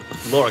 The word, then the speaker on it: Lara: It's pronounced Lara Croft, please. Yeah. It's English. I thought you had this longer A. It's like Lara. Lara. Lara. Croft. You gotta roll the R. She's actually part Spanish.